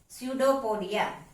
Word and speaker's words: pseudopodia: Children, while pronouncing the word pseudopodia, you have to remember that P is silent here. Therefore, the word to be pronounced as pseudopodia.